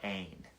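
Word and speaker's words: ἦν: He uses a specific Greek verb, an, E-N, and it's kind of pronounced A-Y-N, so let's call it ain.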